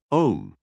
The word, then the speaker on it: Aum: Pronounce the Aum as Om.